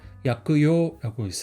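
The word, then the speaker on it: 薬用: 그래서 약 같은 경우는 음독으로 약그라고 있고 용 같은 경우는 요라고 있습니다. 그래서 약그요라고 읽을 수 있어요.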